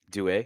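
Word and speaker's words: Doué: Is that Doue? Is that how you pronounce that? Doue, yeah.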